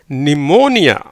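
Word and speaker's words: pneumonia: PNEU பீக்கு உச்சரிப்பு இல்லை, ஏன்னா எண் அடுத்து வந்திருக்கு.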